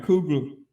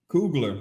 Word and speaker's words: Coogler: Ryan Cougar, Coogler.